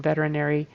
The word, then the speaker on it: veterinary: I heard very noose. Verinary noose. So, I kind of skipped some of the sounds or switched them around in veterinary.